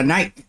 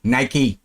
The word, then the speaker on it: Nike: Vậy chữ ở dưới phải đọc là night. Mới đúng với cái phát âm ở trên này, hay và night. Không, Nike.